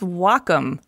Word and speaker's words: Wacom: Wacom no Welkom no its Wacom pronounced wah like the Japanese word for harmony and come for computer the Wacom Cintiq 16